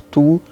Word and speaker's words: tu: Prestem bem atenção na pronúncia, é um som que a gente não tem em português. Então, o U, a boca de U e o som é de I. Então, a gente vai fazer tu.